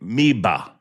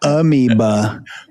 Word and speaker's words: Meba: Number 5, I would say Meba. That's how you say it. Meba. I'm sounding it out for you. I saw, Meba. Not amoeba. Meba.